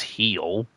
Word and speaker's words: Gil: It's spelled G-I-L, but it was pronounced Heel.